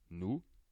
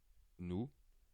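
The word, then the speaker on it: nous: now so we is new new we do not pronounce the final s and our is not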